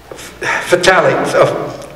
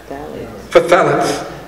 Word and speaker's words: phthalates: The chemicals implicated are phthalates. Hold on. No. Phthalates. Phthalates. It's another pronunciation, but it always gets me.